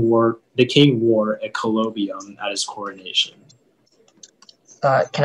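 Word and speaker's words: colobium: the information yeah so the only pronunciation is collobium it's a noun and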